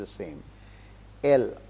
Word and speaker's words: elles: L, we say elle is she, elles is they, but pronunciation will be L.